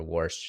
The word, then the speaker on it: Warsh: I doubt that Walsh has said anything, or Warsh, sorry, I mispronounced his name. His name is basically pronounced like if you live in the Northeast and are trying to say wash.